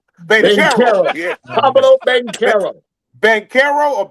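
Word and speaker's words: Banchero: Pablo Bencaro. Bencaro or Benchero?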